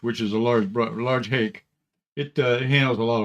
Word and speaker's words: hake: pronunciation these are hockey hockey rush also and i guess it comes from japan where the h a you know sake rhymes with hockey but the real the real pronunciation is hake and uh but hockey